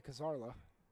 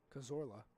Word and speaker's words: Cazorla: got to face Jose kazara I said his name wrong again I know I did Cazorla there we go I got it kazora Jose kazora kazora is